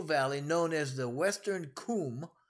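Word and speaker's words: Cwm: Next, they got to go through the glacial valley known as the Western Kum, right? It's actually spelled C-W-M, but it's pronounced Kum.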